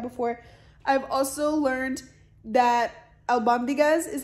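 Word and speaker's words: albóndigas: soup like that before i've also learned that al bambigas is how you say it and it stands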